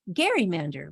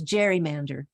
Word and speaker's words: gerrymander: gary it became a garrymander which is pronounced more generally these days as gerrymander today the term gerrymander